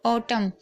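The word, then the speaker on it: autumn: अच्छे से समझ लीजिएगा एम है और एन साथ में हो तो एम के बाद एन साइलेंट रहता है जैसे कि आप यहां पर भी देख रहे हैं ऑटम तो यहां पर आप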